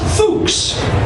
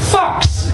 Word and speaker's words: Fuchs: And there was little Carrie, what I thought was Fuchs. F-U-C-H-S. I was like, Carrie Fuchs. And then this little girl walked up to me and she's like, I'm like, yes? It's pronounced Fox.